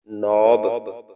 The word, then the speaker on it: knob: KNOB हमने पढ़ा था, KNOB नॉब। के यहाँ पे साइलेंट है क्योंकि एन से पहले अगर के आ जाता है तो वो साइलेंट होता है, ठीक है, ठीक हो गया।